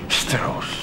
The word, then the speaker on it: Strauss: Strauss, si pronuncia Strauss.